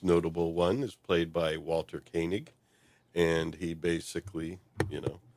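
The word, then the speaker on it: Walter Koenig: He must also Thank you for pronouncing Walter Kanig's name correctly. Walter Kanig.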